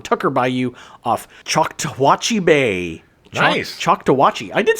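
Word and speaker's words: Choctawhatchee: Chakawatchi.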